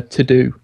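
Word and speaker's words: Teux Deux: favorite is IOS app what is it uh to do and it's spelled t-e-u-x-d-e-u-x it's a to-do list it's by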